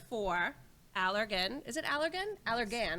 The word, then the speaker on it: Allergan: is a trainer for allergan is it allergan allergan right okay good i was supposed to ask